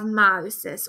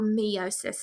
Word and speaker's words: meiosis: then we also have meiosis or meosis as some people pronounce it um cells reproduced